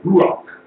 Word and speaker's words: ruach: That word for breath of life is actually in Hebrew, ruach. Ruach. I mean, if you say it properly, you have to breathe.